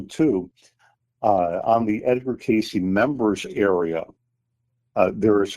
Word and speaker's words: Cayce: Uh again, Casey is spelled C A Y C.